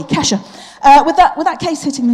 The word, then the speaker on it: Kesha: Keisha, I don't know, how do you pronounce it? Keisha, I thought it was Keisha. Kesha? Oh, whatever. All right, a short E, Kesha.